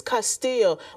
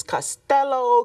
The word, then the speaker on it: Castillo: my family name is Castillo, but I do know that Castillo's is a Spanish last name. I've heard many versions, Castello, Castillo, but I believe it's pronounced Castillo, Castillo, and there are many